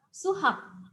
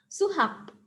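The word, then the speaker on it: 수학: Di sini ada dua suku kata. Suku kata yang pertama dibaca su, suku kata yang kedua dibaca hak. Jadi matematika bahasa Koreanya adalah suhak. Kita lafalkan bersama, suhak. Suhak.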